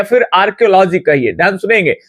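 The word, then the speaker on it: archaeology: अब कई लोग को लग रहा होगा कि ये आर्चियोलॉजी नहीं पढ़िएगा, यहाँ पे आर्कियोलॉजी कहा जाता है, क्योंकि एच जो ये देख रहे हैं ना, ये साइलेंट रहता है, मतलब हम लोग उच्चारण में उस वर्ड का इस्तेमाल नहीं करते हैं।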